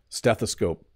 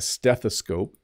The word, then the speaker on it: stethoscope: and made a video okay let's get started stethoscope stethoscope I'm going to try and say each word twice and then I'll try to give you some hints on how to pronounce it slowly so a stethoscope stethoscope if you break the word into three